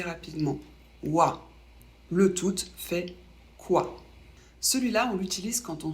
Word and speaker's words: quoi: Il se prononce quoi. Q et U, ça fait le son que. On ne prononce pas le U.